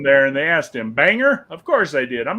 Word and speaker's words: Bangor: wrong I wouldn't say Bangor but it's not Bangor it's bagnor no I I know for a fact how it's pronounced Joey because it's Banger yeah the Kennedy came back from Maine and